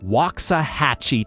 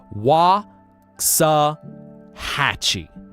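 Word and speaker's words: Waxahachie: If y'all have ever heard of Wakaahhatchee, Texas Wa Hatchee, you have three different a pronunciations in that walkie. And each time that a is different versus like Japanese where the a sound ah is consistent.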